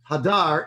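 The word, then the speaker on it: הדר: the dagesh it's pronounced hadar in the manner of hidur you know two different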